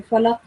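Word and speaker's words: الفلق: You're supposed to make a jerking sound on qaf, falaq.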